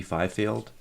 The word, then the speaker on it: Fifield: Jason Harpster from central security systems and Fifield did I pronounce that right you did thank you did